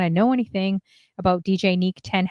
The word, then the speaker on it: Niq: always BS everybody says Nick is Nick DJ Nick yeah so I'm pronouncing it right he always bothers me he's